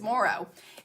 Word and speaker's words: Moreau: andresia anyway it's horrible I say Tracy moreau's last name wrong too it's Moro anyway so this beautiful